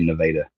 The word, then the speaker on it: Nevada: They say Nevada. It's spelled Nevada, like the state of Nevada, but the people that live there say Nevada.